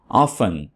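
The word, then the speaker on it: often: ऑफन, दोस्तों ऑफन में T silent है। इसको वैसे तो ऑफ्टन भी पढ़ा जाता है और ऑफन भी पढ़ा जाता है।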